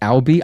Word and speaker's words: Albi: Is it Is your name pronounced Albi? I'm reading it like Audi, like the car brand, like under Volkswagen Group. Audi, but I'm saying Albi. I hope that's correct.